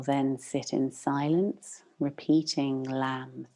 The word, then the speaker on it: Lam: And into this energy center, I'd like us to drop the syllable Lam, L-A-M, Lam.